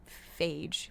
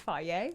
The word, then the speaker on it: Fage: There's a lot of yogurts on the yogurt aisle that are fagee. People say that all the time. I'm like, I think it's fier.